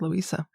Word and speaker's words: Louisa: I would Louisa. say with the Z. With a Z. Louisa. Louisa. I kind of like Louisa.